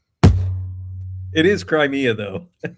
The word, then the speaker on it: Crimea: I do not know how to say it. Uh cremea. It's like a peninsula. Huh? Crimea. Crimea. Crimea.